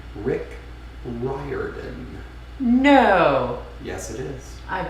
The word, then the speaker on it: Rick Riordan: the name that aquamelon just spelled out is pronounced rick riordan no yes it is i've been saying that